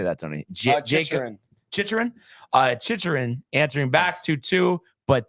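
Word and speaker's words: Chychrun: Chichurin.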